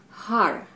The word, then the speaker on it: har: one is mantra which is repeating a word har h a r over and over and over word or how it's pronounced is you know it's powerful it's like